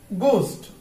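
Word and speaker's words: ghost: এবার আমরা দেখবো যে শব্দের শুরুতে জি এইচ থাকলে এইচ টা সাইলেন্ট থাকবে, জিটা উচ্চারিত হবে আর এইচ টা কি হবে সাইলেন্ট হবে। গোস্ট অর্থ হচ্ছে ভূত, এখানে এইচ কি সাইলেন্ট।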